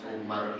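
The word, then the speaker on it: عمر: Lafaz Umar itu kalau di belakang rohnya ada wawu dibacanya Amr atau Amrun. Kalau enggak ada wawu dibaca Umar.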